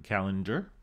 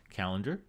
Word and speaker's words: calendar: calendar but not calender notice that these two sound exactly the same calendar calendar the problem here is something that we studied in week three regarding phonology in english these are unstressed syllables calendar calendar so because they're unstressed their vowels are going to change and become schwas so in reality even